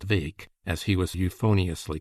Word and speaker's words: Bheg: Further, it was rumored that there was a chance of them getting for goal Farquhar McRae, Little Farquhar, or Farquhar Vake, Bheg, pronounced Vake, as he was euphoniously